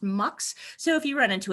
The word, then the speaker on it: Mx: It's usually pronounced MUX.